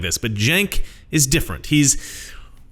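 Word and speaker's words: Cenk: let it throw you is that yank Hank or plank okay it's jank like Jenkins you girl like you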